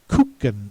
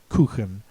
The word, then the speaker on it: Kuchen: I think these two words have been Americanized so that you can expect the pronouncer to say Kuchen instead of Kuchen.